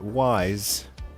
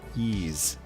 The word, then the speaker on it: Ys: Everybody knows how to pronounce this now because if you pronounce it wise, you're going to have a whole bunch of people jumping on you, correcting you. Um, actually, it's pronounced ease.